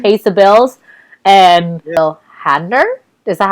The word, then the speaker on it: Hader: And Bill Hader, is that how I pronounce his last name?